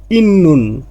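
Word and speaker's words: 있는: বাচ্ছিমে যদি ত ধ্বনি থাকে এরপরে নিউন আসে তাহলে ত ধ্বনির উচ্চারণটা নিউন হবে, এই জন্য এর উচ্চারণটা হয়েছে ইন্নুন মানে আছে বা থাকা।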